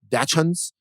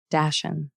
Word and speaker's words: dachshund: how you say it dachans uh there you go i don't i don't think this is a ch hard sound i think it's like a dashen okay so a guy